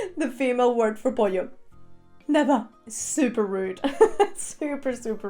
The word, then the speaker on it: pollo: When you go to buy some chicken is pollo.